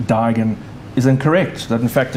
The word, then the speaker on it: Duigan: rather alarming i mean it's the way that uh my father my grandfather his great his grandfather etc pronounced the name so it's always rather